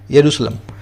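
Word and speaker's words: Jerusalem: दूसरा जेरूसलम, लिखा जाता है जेरूसलम लेकिन जे साइलेंट होता है, इसका करेक्ट नेम है यरूशलेम, ठीक है ना। तो इसलिए आपको जे को साइलेंट करके बोलना है यरूशलेम।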